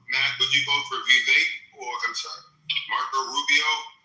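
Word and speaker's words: Vivek: Uh he said if you want to pronounce his name properly, just remember cake. So it's Vake.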